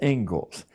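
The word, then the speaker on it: Inglis: in education is named as it is the Engles lecture looks like English but it's pronounced Engles and I would like to read you the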